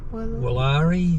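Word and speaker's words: Willare: How would you pronounce the bridge name? Woollari.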